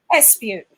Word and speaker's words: Espeut: Okay, so if you look at the word dispute, my name is Espeut. So even though it's not spelt the same, it's pronounced the same.